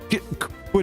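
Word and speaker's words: quinoa: God it's a wild kinoa it's pronounced quoa notna live that down anytime soon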